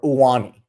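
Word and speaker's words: Ioane: And that is Penn State guard Vega Iaone, or Iaone is how you say it.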